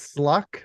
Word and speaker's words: Sluck: And Yeah, that was and it's Sluck, not with a T. It's with a K.